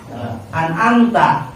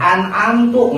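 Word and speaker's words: أَنْعَمْتَ: Kita baca Fatihah, Shiratal ladzina an'amta, kita bacanya an'amta. Coba kita ganti make doma, an'amtu, ngaku Tuhan.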